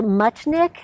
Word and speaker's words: Muchnick: ask you again Larissa your last name is pronounced much Nick yes that's correct that's a very unusual